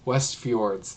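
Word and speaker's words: Westfjords: F forour I can't say say F fjords West fjords there we go that's how you say it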